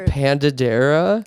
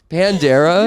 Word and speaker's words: Pandera: name as we've learned padera no Pandera you're actually like padera like new I'm sorry says Pandera Pandera oh my God okay